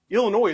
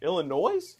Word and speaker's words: Illinois: Because I don't know if you heard, Illinois is back. Illinois? Illinois? Oh, I hate when people do that. The S is silent, like debris, or like Big Ten playoff win.